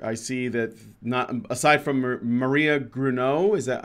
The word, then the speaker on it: Gruneau: I see that aside from Maria Gruneau, is that how you say it?